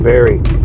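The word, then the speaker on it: Barre: Going to Hope Cemetery in Barry. Barry, Vermont. Yeah. B A R R E. That's how you pronounce it. Barry.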